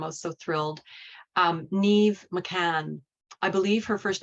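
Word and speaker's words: Niamh: can Google her but it's pronounced Neve to rhyme with sleeve and I have embedded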